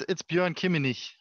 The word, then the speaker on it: Bjoern Kimminich: Is that how you pronounce it, Bjoern? It's Bjoern Kimminich, but I take everything.